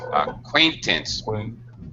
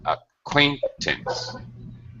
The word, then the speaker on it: acquaintance: yes uh Que aain acquaintance middle syllable strats acquaintance acquaint all right that's